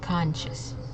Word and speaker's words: conscious: being aware uh so notice how the S and the C it's making a sh sound okay so it's conscious and also we're uh emphasizing on that first syllable okay second one we